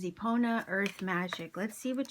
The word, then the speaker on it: Epona: So it says, honored amongst the Celts, Romans, and North Africans as a protector of horses, Epona, pronounced Epona, was said to be the offering of a mare and immortal king.